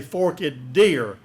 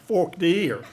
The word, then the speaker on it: Forked Deer: When I look at the icon up here, I would say Forked Deer, but y'all just say like Forked Deer.